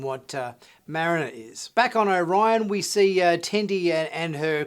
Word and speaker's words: Orion: episode with the male Orions. But back in animated series, they were blue. They wore really campy, strange, superhero-esque like uniforms, and they didn't pronounce their race as Orion. They pronounced it as Orion, which obviously was a